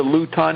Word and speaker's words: Luton: You are not pronouncing it right because what the is that? L L U T O N Luton.